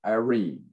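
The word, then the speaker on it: εἰρήνη: word for peace it's it's i'm going to spell it for you it's e-i-r-e-n-e irene and that's where we get our english word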